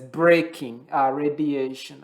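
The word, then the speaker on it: Bremsstrahlung: And so it's pronounced as braking radiation.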